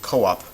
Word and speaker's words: co-op: cooperation you can say Co-op um a a lot of times to avoid to sort of and and you would pronounce it co-op with a Hiatus there but a lot of